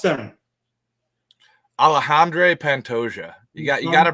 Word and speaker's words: Alexandre Pantoja: event we've got an interesting flyweight battle between Alexander pya and Steve vering did I say did I properly pronounced them alejandre Pantoja you got you got to brush up on